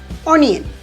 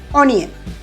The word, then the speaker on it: onion: We commonly pronounce this as onion. Onion. Is that the correct way of pronouncing it? No, it is onion. Onion. The correct way of pronouncing it is onion.